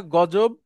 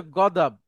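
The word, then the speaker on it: غضب: আচ্ছা, ওই দতকে আমাদের দেশে অনেক সময় বর্গীয় জ বা অন্তর্জ দিয়ে বলে, যেমন আমরা বলি না গজব, জি জি। ওইটার মূল আরবি হচ্ছে গদাব।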